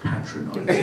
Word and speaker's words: patronizing: I found your tone rather patronizing. And I said, well, actually, it's pronounced patronizing.